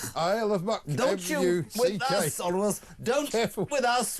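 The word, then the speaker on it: Isle of Muck: It is the aisle of muk.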